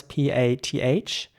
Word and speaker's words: path: Basically, what I want to emphasize here is that the A is again pronounced like an R in British English.